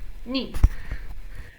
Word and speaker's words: knee: KN, the K is silent, as in knot, like you tie a knot.